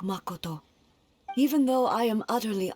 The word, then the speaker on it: Makoto: japanese way because like as regular english speakers we just be like makoto right with the kind of drawn out a and o sounds ma koto but then in in japanese like from what i understand you kind of stop you know the way you pronounce the each uh syllable i guess a certain way like it will be a sudden like stop like ma koto so that's why it's